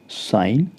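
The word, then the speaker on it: sign: अर्थ होता है चिह एस आई जी एन साइन च यहां पर भी जी हमारा साइलेंट रहेगा हमारी अगली स्लाइड है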